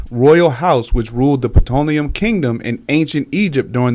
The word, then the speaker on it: Ptolemaic: Y'all might start tripping because it's spelled with a P. No, yeah, but you had me look. I'm like, I always see what you're talking about. Ptolemaic Dynasty.